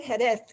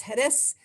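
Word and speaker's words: Jerez: hedef de la frontera i say hedeth even though it's hedes with a z because as you know castilian pronounces the z and the soft c as a th in english so this is the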